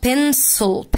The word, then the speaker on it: pencil: بص ادي حرف C وادي حرف C، السي هنا جه مع حد من صحابه اللي هو اي اي واي، ادي الاي، انما السي هنا ما جاش مع حد من صحابها، جت حرف الاي، فهنا هتتنطق pencil pencil ص ص، انما هنا case case وcase، السي اتنطقت ك والاي هنا جاي long عشان عندي magic e، فتبقى pencil case pencil